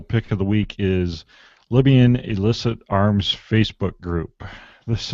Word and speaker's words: Libya: And one of the writers over there stumbled across this Facebook group based in is it Libya or Liba? Libya. Yeah. Well, if Jake's pronouncing it, it's Liba.